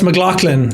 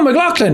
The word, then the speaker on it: McLaughlin: And he was like, did I pronounce that right? And I said, no, it's McLaughlin. He was like, oh, McLaughlin, where are you from?